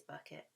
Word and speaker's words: Bucket: have a hyacinth bucket which hyacinth bucket would like to be pronounced bouquet do dhari but it is bucket but mum can't keep